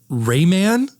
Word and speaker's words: Rayman: like Raymond I never played Raymond why do you always say it like that Raymond where it Ramen Rayman Rayman Rayman is it Ramen what the [